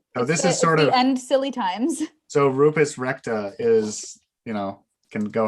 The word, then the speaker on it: Recta: because it's rupert's recta rupus recti or rupert rupert that's rough no recta r-e-c-t-a oh dear the show